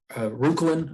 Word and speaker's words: Reuchlin: Reuchlin, I think is how you pronounce it, which was a Bavarian